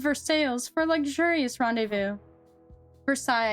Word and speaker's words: Versailles: Versailles, I think, not Versailles.